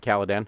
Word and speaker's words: Caladan: I'm probably getting that name wrong. I should know. You got it right, Caladan.